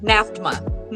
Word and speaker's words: NAFDMA: with all of the, how would you pronounce that if we were going to abbreviate? NAFDMA? Yeah, it's exactly it. NAFDMA. That's what I thought. I'm like, I'm pretty certain there's going to be like 3 syllables.